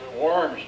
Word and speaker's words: Worms: Worms, Germany. Yeah, hold it. Germany. Is it said with a B and it's a W? Yes, it's pronounced with a V.